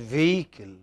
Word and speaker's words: vehicle: what is it yeah this h is not pronounced it is vehicle now the question i